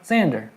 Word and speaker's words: Xander: the Xander zone yeah Xander pronounced with the Z yeah Xander Xander well I